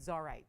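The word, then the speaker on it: Csarite: And they wanted Zarite. So CS is how it's spelled, C-S-A-R-I-T-E.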